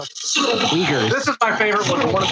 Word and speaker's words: Uyghurs: The way they walk is so I think it's pronounced white jeer. God. I think isn't Japan or China having problems with white jeer right now? Is that what they are? Uyghurs.